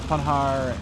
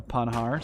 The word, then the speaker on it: Panhard: And the Panhard, by the way, someone did tell me that you do not pronounce the D in a Panhard, so I'm going to try and not pronounce that.